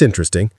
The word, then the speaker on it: interesting: Think of it as interest plusing. But you're not saying interesting. You're saying interesting. The middle and s basically merge into one sound.